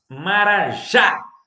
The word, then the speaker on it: marajá: Marajá. Sílaba tônica, última.